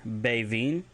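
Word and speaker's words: beviin: If you want to say lance, it's Bevin, BEVINN, Bevin.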